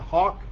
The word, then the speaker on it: Haack: added a punter matt hawk his uh name is spelled h double a it doesn't look like hawk but that is how it sounds like the the bird that flies through the air that's uh what the